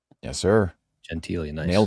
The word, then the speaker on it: Gentile: our guy Brendan Gentili. That's how you pronounce it, right? Yes, sir. Gentili, nice.